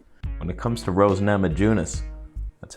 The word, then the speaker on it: Namajunas: lock knee breaker when it comes to rose namajunas that's how you pronounce that by the way and zhang wheely